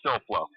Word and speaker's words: Silflo: I don't want to pronounce anybody's names wrong. Yeah, it is Silflo.